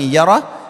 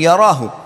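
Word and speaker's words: يره: Wa man ya'mal mithqala dzarratin syarran yarah. Kalau diberhentikan bacanya yarah, tapi kalau dibaca langsung yarahu.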